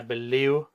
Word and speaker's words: believe: So pronunciation, I believe. This is a typical Russian or Ukrainian thing. Try to get the v sound. Believe. V.